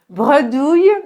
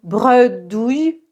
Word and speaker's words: bredouille: Bredouille, donc prononciation bredouille, douille, comme le yeu dans famille, bredouille, ça veut dire sans rien.